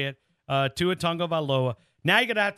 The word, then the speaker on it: Tagovailoa: And I mean, I was butchering it, and you taught me how to say it, Tua Tagovailoa.